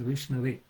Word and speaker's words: Vishnu: The right way is Vishnu is the correct way.